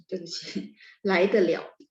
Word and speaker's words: 来得了: Nah, kalau sama ya, kalau teman-teman nanti udah nggak pakai pinyin gitu ya, belajarnya huruf Mandarin doang, maka ketemu begini, bacanya lai de liao, oke?